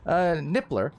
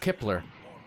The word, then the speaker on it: Nippler: Rebound to Artemis, and looking for that clear, but taken by Jim Nippler. I may have mispronounced that earlier. I think I said Kipler.